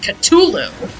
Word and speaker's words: Cthulhu: know i usually go cthulhu i've also heard like the h is you don't even pronounce the h like it's supposed to be uh pronounced ctulu i've heard i i've